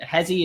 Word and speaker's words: Hezi: Hezi is how I was told it's pronounced. If that's wrong, I'm sorry and I will correct it.